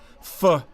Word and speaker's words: pho: Often mispronounced, but immediately appreciated, pho is pronounced like fur with a soft R.